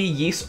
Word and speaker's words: Ys: it might be but the yeast series uh ys it kind of has a weird pronunciation um it's been a